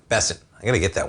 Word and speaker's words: Bessent: So you have Treasury Secretary Bent Besset. Bessent I got to get that one. For some reason the pronunciation expands the Fed chair search.